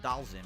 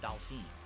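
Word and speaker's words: Dhalsim: His name is not Dalzim, it's Dalsim. That's how it's actually pronounced.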